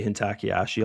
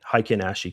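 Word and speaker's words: Heikin-ashi: I know I totally I totally say it wrong. I should say that in the in the uh course because I say hentakiashi all the time. And uh yeah, hiken hikenashi candle is how you say it.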